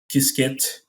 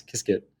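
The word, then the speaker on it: Qiskit: good one um i would say um ibm kisket is another one that i can refer anybody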